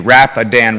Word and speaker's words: Rapidan: Rapidan River. Appreciate the pronunciation.